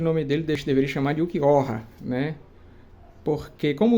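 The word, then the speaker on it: Ulquiorra: Porque como o nome dele seria baseado no espanhol, né? Seria tipo assim, o que chora, o Ukiyoha, né? Prefiro a pronúncia Ukiyoha, mesmo que o mais próximo fosse Ukiora, né? Ou Ukiyoha, né? Para o espanhol.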